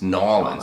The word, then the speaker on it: New Orleans: It's Nolans, I think is the right pronunciation.